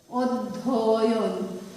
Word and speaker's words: অধ্যয়ন: এর উচ্চারণ ও এর মতো হয়, অর্থাৎ এর উচ্চারণ নির্দেশ করতে তোমাকে লিখতে হবে ওদ। বলছি কি ওদ, একটা অক্ষর, ওদ ধ অন, অধ্যয়ন, অধ্যয়ন।